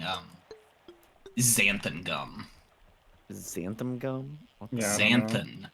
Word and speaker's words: xanthan: Zanthan. Everybody Everybody mispronounced it and says Zantham because it makes it makes sense to rhyme as Xantham gum.